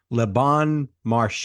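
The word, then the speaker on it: Le Bon Marché: was just the reality leban I hope I'm pronouncing this right Lebon Marche is that right excellent yes perfect 1838 Paris um where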